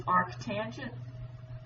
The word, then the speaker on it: arctangent: The more proper way to say is arctangent. Please don't say tan to the -1.